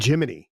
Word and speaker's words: Gemini: Jiminy, sorry.